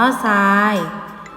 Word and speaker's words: ทราย: เดียว เท่า นั้น ค่ะ ก็ เพราะ หา รอ เรือ ออก เสียง ซอ โซ่ ซับ อ่าน ว่า ทรัพย์ ทราย อ่าน ว่า ทราย แทรก อ่าน ว่า แซ่